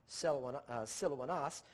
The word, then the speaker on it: Silvanus: From Paul, from Silvanus, properly pronounced again Silouanas, and Timotheus.